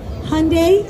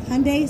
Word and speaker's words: Hyundai: Hyundai is the way, like Hyundai, Sunday, Funday.